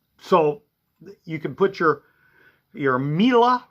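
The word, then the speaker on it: Miele: So you can put your Mila, which rhymes with Sheila, or Sibo, which is a vacuum cleaner brand I sell.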